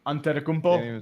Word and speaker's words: Antetokounmpo: Antetokounmpo?